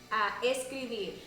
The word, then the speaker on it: escribir: Escribir. Escribir. Escribir. Escribir. Remember that R rule? It's a little bit more softer. It's At not the very end.